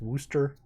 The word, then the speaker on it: Worcester: Oh, it's pronounced Worcester? What? I don't ever figure out how to fucking pronounce that word. I don't want to turn around. I have to turn around. Yeah, right? We do it to confuse people. Yeah, I feel like if they wanted it to be pronounced Worcester, there should have been two O's in there. Or you.